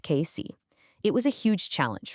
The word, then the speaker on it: Casey: their longtime workshop on Frank Street in Casey. That's pronounced KC.